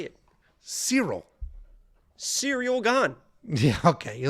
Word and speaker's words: Ciryl: Cyril.